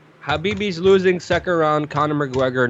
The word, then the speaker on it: Khabib: Habibi?